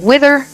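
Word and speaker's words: Withr: And this is a song Wither, but it's spelled with only one vowel, so it's w i t h r.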